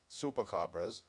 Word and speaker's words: chupacabras: The chupacabra, or chupacabras, Spanish pronunciation, chupacabras, literally goat, sucker, from Spanish, chupar, to suck,